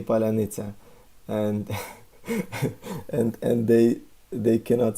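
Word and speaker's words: паляниця: They were asked to say "palyanitsa" because these soft sounds you cannot pronounce if you're not Ukrainian. I mean, because just your mouth is used to pronounce it that soft way. So if you can say "palyanitsa" in this way, then you're definitely Ukrainian.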